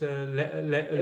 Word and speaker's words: Lebesgue: Now when you say this, I don't know how to exactly pronounce it. Lebesgue. Lebesgue, right, or what? Yeah. Yeah. Lebesgue.